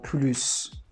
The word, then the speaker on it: plus: For example, we say elle est plus sympa que sa sœur. So here we don't pronounce the S because sympa is an adjective.